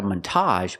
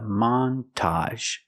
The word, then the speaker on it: montage: We're going to stress both syllables. Not a montage, but a montage. The first syllable is the short a man.